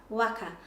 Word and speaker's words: waka: commonly say waka, but the pronunciation of the letter A in Te Reo Māori for any word with A is A, not O. So A, W-A-K-A, waka, waka.